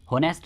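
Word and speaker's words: honest: जैसे an hour H silent है तभी ठीक है एन ऑनेस्ट मैन ऑनेस्ट नहीं है यह एन ऑनेस्ट मैन है तो एच साइलेंट है एन ऑनरेबल गेस्ट तो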